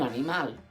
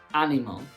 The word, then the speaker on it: animal: Es un animal. That's right. An animal in Spanish is written the same as in English, but we don't say animal. The stress falls on the last syllable.